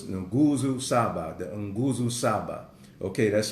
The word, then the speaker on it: Nguzo Saba: Okay, so it's Nguzo Saba, the Nguzo Saba. Okay, that's spelled N-G-U-Z-O.